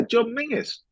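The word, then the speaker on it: John Menzies: John men's although I've since been told it's pronounced mingis yeah John mingis get that I think up in Scotland that's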